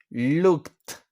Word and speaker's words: looked: Okay, so here we have look, looked. No es una sílaba extra, simplemente se le agrega un sonido de t al final.